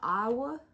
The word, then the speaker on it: Iowa: from Louisiana, we have a town called Iowa that's spelled exactly like Iowa, but just sound different. And I see it and I'm like, oh, that's Iowa, not Iowa.